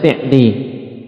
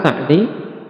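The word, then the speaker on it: سعدي: Adapun lghah amiah yaitu lughah di daerah mereka terkadang kita dengar dari nam ulama-ulama sana Uyainah Tayib mereka membacanya si'di. Ya, jadi itu ee bahasa di kalangan mereka ya lhah darijah tayib. Jadi kalau fusha sa'di kalau namam pengucapan lghah kaum tersebut naam kebanyakan dengan asi'di dengan kasrah sehingga tidak perlu berselisih apalagi saling menyalahkan dan ini taujih yang bagus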